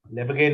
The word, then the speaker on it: Lebesgue: This pronunciation is Lebesgue number.